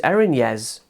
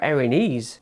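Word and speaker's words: Erinyes: I always called these Erinez, but I looked up the pronunciation. One video said Erinez and another said Erinese. I prefer Erinese. Sounds a bit like Hairinese.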